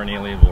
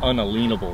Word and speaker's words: unalienable: to me is is our an alienable rights you know or unalienable rights is uh is how our the founders probably more accurately pronounced it and you know it's